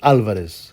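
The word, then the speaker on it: Álvarez: But actually it's Alvarez. I think it's got an accent on the A.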